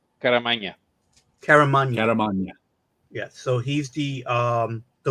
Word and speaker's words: Caramagna: How do you pronounce Joe's last name? Caramagna, right? Caramagna.